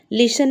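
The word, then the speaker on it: listen: लिसन में T silent है।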